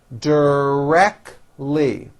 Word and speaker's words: directly: many differences between us directly three syllables and most americans drop the t directly she is directly responsible